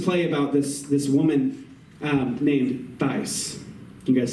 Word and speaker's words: Thais: But he wrote this play about this woman named Thais.